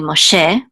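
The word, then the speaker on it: Moshe: the same O'Shay but in Hebrew it's really ma che and so here there's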